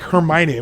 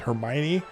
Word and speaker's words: Hermione: book and sometimes they would correct us on pronunciations of things in that book and be like what you know like Hermione we were trying to I didn't know that the girl in the story was called Hermione and so we're reading this book and she